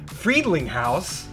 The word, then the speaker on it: Friedlinghaus: the world we have such a guy ryan friedlinghouse that i pronounced that correctly perfect i obsessed over that